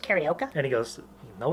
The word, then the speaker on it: Carioca: So, when your coach yells, karaoke, just say it. Coach, it's pronounced Carioca.